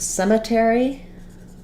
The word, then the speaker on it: cemetery: the word Cemetery um we have first syllable stress letter C says the S sound we have the F vowel like in red um this letter e is going to be an unstressed schah sound sounds like uh so